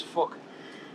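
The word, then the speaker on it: Phuc: His name is Fuck, but it's spelled with a PH, so it sounds like fuck.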